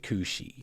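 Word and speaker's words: cù-sìth: it's kind of gaic in origin but you pronounce it cushi and anyway the cushi is a mythological ical hound that is feared as a harbinger of death.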